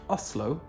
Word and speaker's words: Oslo: be some occasions where you've correctly pronounced oslo with the unvoiced s just like a norwegian would but your audience is